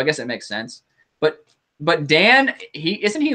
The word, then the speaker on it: Dan: In Japanese pronunciation, is it Dan pronounced as Don? No, it's Dan.